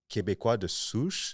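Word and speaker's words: Québécois: Like I never knew like like Kebequa, that's how you say it.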